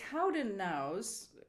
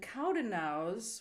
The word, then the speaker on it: Cowdenknowes: And the Cowdennows, Cowdenknowes, and Cowdennows, which is some part of Scotland, rhymes with yows, E-W-E-S, which in Scottish is pronounced yows.